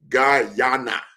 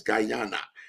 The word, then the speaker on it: Guyana: I'm going to say my perfect pronunciation is Gana. So there's a big Gana there. So it's not Ghana, it's Guyana.